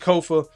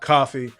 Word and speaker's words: Kofa: I've been your humble host, Kofa, K-O-F-A, not coffee, not Kufu, not Kofi, or any variation thereof. Kofa rhymes with sofa.